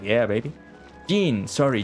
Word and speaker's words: Jean: Jean, not Jane.